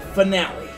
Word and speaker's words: finale: The finale. It's like Royale, you gotta put extra pronunciation on the E for some reason. Got it. It's not like every other English word where E is silent.